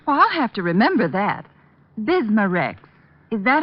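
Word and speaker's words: Bisma-Rex: irritated stomach membranes i'll have to remember that bismurex is that how you say it that's right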